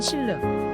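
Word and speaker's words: 新日: 선보이기도 했습니다 사위는 솔라입니다 중국 발음으로는 신르 우리 한자 발음으로는 신일 전동자 증거입니다 정확한 회사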